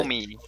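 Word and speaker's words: Omie: so back to the top with Oimi, or however you Oh, pronounce it. Omi.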